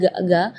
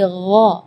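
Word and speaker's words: غ: magdubi ya perlu diperhatikan bukan G bukan huruf e g ya bukan ga tapi gho jadi kalau ga itu Dia ee makhrajnya dari lidah ya tapi kalau huruf gain itu dari ee Bagian tenggorokan ya jadi eh gho gho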